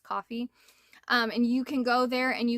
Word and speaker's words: Ko-fi: It looks like Ko-fi to me, but I think it's pronounced Coffee.